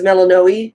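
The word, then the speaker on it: Melinoë: So, and there are different pronunciations of it. I'm choosing to go with the one that was pronounced in like the Greek on how to pronounce names, Melanoi. Melanoi. The other way is Melanoe. Melanoi. But you and I we both liked Melanoi. Melanoi. Yeah. And then there's also Melano, which is more kind of anglicized.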